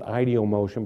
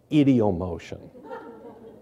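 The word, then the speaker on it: ideomotion: as idom motion I I understand that elsewhere in the world they might call it ideom motion but I pronounce it as you would an Ohio idiom motion Northeast Ohio any case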